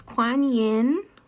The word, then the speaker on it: Kuan Yin: Kuan Yin, Kuan-Yin, K-U-A-N-W, or not W, I'm sorry.